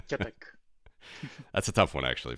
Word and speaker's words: Tětek: It's Tětek with a soft T at the beginning. Tětek. T-E with a hook, Yeah. like the Czech special symbol, so it's Tětek.